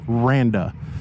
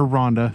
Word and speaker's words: Randa: know I kept saying her name wrong in my last video the marketing director here is Randa I kept calling her Rhonda so my bad but